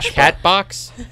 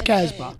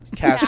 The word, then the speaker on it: Casbah: It's Casbah. Casbah. I know. That's guys. I wasn't sure. I didn't know it was Casbah. You gotta say it like you're from Boston.